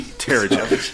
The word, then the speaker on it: Terrigen: Soft G. Terrigen.